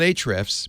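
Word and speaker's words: Ahrefs: spelling right so I'm gonna call it eight reps but it's spelled a href s h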